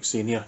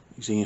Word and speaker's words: Xena: moving on we have the xenia yes i know that's not how you say it but that's how i see it xena series about 20 of